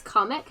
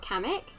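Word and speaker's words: Kamek: who else they are doing then panic comic wait is that how you pronounce it it's comic not kamik okay apparently there's two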